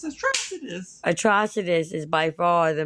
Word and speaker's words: Atrocitus: When they say his name, it's Atrocitus.